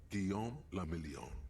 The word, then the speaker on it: Guillaume Lamillion: Guillaume Lamillion. If it doesn't rhyme, you're not pronouncing it right.